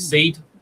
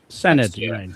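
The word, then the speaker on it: Senedd: say in the Welsh the Welsh is it seed? Hope I'm saying it right. Senate.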